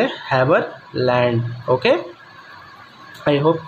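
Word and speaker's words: Haberlandt: इसका हम जो प्रोनाउंस करेंगे वो करेंगे हैवरलैंड, ओके।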